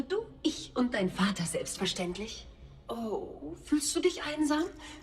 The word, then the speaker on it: Selbstverständlich: To help you pronounce it, try to cut it out, yeah? Selbstverständlich. It would also help you to practice it from the end to the beginning. So start with lich and then stend, ja, und dann fair. Also lich, ständlich, verständlich, selbstverständlich.